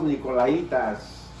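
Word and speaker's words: nicolaítas: Bueno, en Pérgamo había un grupo de personas llamados Nicolaitas. Porque tiene acento en la I, Nicolaitas, ¿verdad? Nicolaitas.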